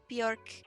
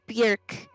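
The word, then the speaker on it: Björk: her name she's like my name is not bjork it's bjerk it rhymes with jerk got it nice but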